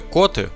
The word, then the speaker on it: Коты: никакого отношения к кошкам в слове коты ударение ставят на первый слог есть мнение что котами